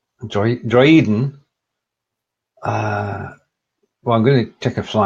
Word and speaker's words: Droiden: Yeah, this is one of the lesser words, I guess, where the two letters are pronounced separately. So it's Droiden. Das sind nicht die Droiden, die ihr sucht. Droiden. Okay, so it's 3 syllables.